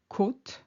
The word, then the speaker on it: côte: For instance, côte, which is the coast, or rib, has a longer O, a more closed O sound compared to cote, which is quota or rating.